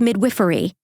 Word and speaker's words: midwifery: I think it's midwiffery. I looked it up. Is it? Give it a I looked it up. It is indeed pronounced midwiffery. I asked my mother first of all who is a nurse and she told me it was midwiffery.